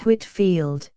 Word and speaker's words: Whitefield: other disagreeable consequences 79 George Whitefield pronounced Whitfield 1714 to 1770 a